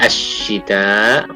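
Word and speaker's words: الشتاء: Pada kata asyita, huruf sya ketemu dengan berharokat syiddah ya, dan kemudian berharokat kasrah, maka seperti yang sudah kita sampaikan, diucapkan tidak menempel terlalu dekat kepada langit-langit, tetapi kemudian mengeluarkan udara yang disebut dengan at-tafashi tadi.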